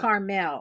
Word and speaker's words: Carmel: be caramel thank you carmel city on the central coast of california it's carmel and that's carmel that is carmel yes there's a there's